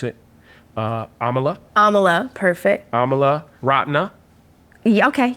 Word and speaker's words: Amala: um your name I'm going to try to pronounce it uh Amala Amala perfect Amala rotna yeah okay yep that's pretty